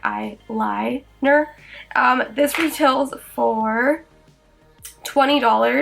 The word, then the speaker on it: Eye-Lie-Ner: It is spelled like I and then L-I-E Ner, so like Eye-Lie-Ner.